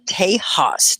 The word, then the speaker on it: Tejas: i'll type it texas in mexico they call it tejas that x is a j and they say it